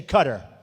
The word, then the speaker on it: Qatar: the airport in qatar which they say cutter i've always said qatar so what the hell